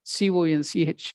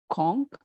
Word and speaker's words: conch: So here, C-O-N-C-H, it can be pronounced as conch or conch, whatever you want.